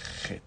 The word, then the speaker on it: Het: que é a letra Het, de novo, Het, tá certo? Que a gente escreve CH nos nossos livros, mas na hora a fonética é Het, Het, como se fosse dois R's, Het.